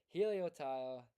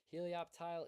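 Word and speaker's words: Helioptile: Heloptile, depending on how you pronounce it, what side of the country you're from. Heloptile is correct.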